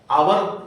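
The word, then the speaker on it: hour: नहीं हो पाता है आवर बोलते हैं लेकिन लिखने में होता है एच से स्टार्ट करते हैं एच ओ यू आर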